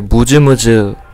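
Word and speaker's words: MusMus: 그래서 번역이 근질근질로 돼 있는데 이제 읽을 때는 이제 무즈무즈 데스, 그러니까 무즈무즈라고 읽는다는 이야기입니다.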